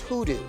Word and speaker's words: Khudu: Praise I'm from edu States and we don't pronounce the case in Edo States hoodoo means hearts in my language so I remember